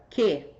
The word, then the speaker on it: que: Como esse U não é pronunciado, eu tenho dígrafo.